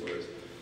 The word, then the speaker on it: ORES: There's some confusion about the pronunciation. We think either one is okay, but officially it's ORs.